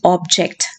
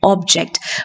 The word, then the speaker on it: object: this is a white object or anastasia this first syllable liner this is a white object please object to that plan object object to that